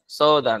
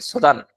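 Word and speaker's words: 相談: তো এটা অনেকে মনে করে এটার উচ্চারণ শুধু সো কি মনে করে? শুধু সো তখন যে প্যাচটা লাগে আর কি সোদান।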